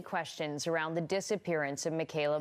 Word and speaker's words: Mekayla: bring Michaela Bali home Michaela Margaret Kim neber gal Bali was born on July 2nd 1999 in Regina sasketchewan and before anyone runs to the comments yes that is how it's correctly pronounced although everything in me